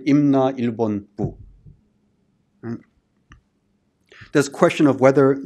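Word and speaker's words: 임나일본부: there for Mimana, or what's pronounced in Korean, Imna Ilbon Bu.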